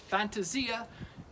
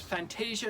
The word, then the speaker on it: Fantasia: are whimsical delightful and it is pronounced Fantasia and not Fantasia no matter what Disney might tell you this is fantasy anumber